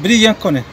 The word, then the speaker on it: Brillance Konect: grabando vídeos para el grupo de cómo se pronuncia brillan brillan con él brillan con él y acaba de instalar este